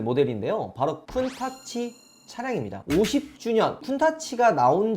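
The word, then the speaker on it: Countach: 90년도에 이 람보르기니 쿤타치를 보신 분들은, 혹은 아시는 분들은 카운타치 이렇게 아시는 분들도 있어요. 이게 원래 쿤타치라는 이름이 맞는데 일본에서 이 넘어왔던, 그러니까 발음 문제예요. 일본에서는 얘를 카운타치라고 한다고 합니다. 원래 차명은 쿤타치가 맞고요.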